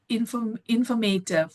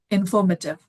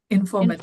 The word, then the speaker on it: informative: struggle to, for example, we tend to say informative. Yeah, we in India we say informative, but the correct pronunciation is informative. Informative.